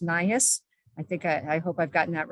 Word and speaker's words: NIHHIS: Health Information System that I now know is pronounced NIHHIS.